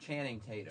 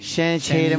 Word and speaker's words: Channing Tatum: Channing Tatum. Channing Tatum. You said Shannon. He said Shannon. Shannon Tatum.